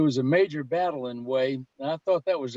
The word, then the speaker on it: Hue: This, if I'm not mistaken, is Way. It's spelled Hue. And there's some of the South Vietnamese Army troops. That's the flag of South Vietnam. There was a major battle in Way.